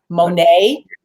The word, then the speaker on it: Monet: Monet, Monet, Monet. Yep, like the painter, right? Monet.